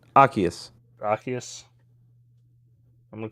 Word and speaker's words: Arceus: and then I got fucking Okay, here's the pronunciation. Arceus. Arceus. I'm gonna call him Yeah. Asius from now on.